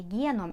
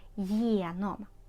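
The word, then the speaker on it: genom: зайшли через двері прийменник через це єном також є не вимовляємо єном єном не Гном а єном через через двері єном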